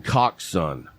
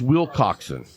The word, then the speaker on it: Willcockson: Why'd you pronounce his name like that? Well, I pronounce it. It's just how you say it. That's how I say it. That's why I was like, who? It's WillCockson.